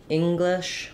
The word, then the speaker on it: English: English same thing so even though we spell English with Eng um both of these letters have the same if vowel so we have the stressed in the first part of Ing and then in the